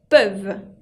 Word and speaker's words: peuvent: dit ils ou elles peuvent ils ou elles peuvent avec ent qui ne se prononcent pas la différence haute entre le singulier et le pluriel il peut et ils peuvent elles qui étaient ok